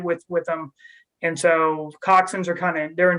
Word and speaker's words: coxswain: correct sorry rusty it's milcock swing but it's pronounced coxswain okay quick okay so if they're just two